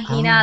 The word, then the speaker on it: Hina: actually comes from from from that so henah Hina a lot of people pronounce it differently so my name is a